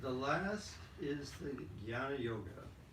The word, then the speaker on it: Jnana: How do you pronounce it? Jnana.